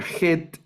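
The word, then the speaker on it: חֵית: fuera una s luego la letra Head que es como el sonido de nuestra j el sonido de J la letra Head la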